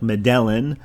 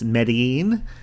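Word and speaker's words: Medellín: right number three medine it's spelled me e d e l l i n I guess if you just spelled or pronounced it phonetically it would sound like medelin but with the accent it's medine it's also known as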